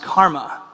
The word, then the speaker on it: CCRMA: in music and Acoustics that's spelled ccrma and it's pronounced Karma um I work here